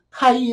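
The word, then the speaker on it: χ: 새 카이 이라고 하 이라고 볼 카이 라고 읽어요 그리신 자 시 짠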